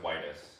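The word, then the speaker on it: Whites: It's Oh, it's pronounced whitus.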